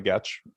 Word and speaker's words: Getch: Thank you, Sally Getch. Rhymes with catch.